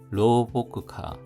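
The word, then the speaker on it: 老木化: 로보크카 나무자가 여기서 보크로 발음되는 것을 기억해 두면 좋을 것 같습니다.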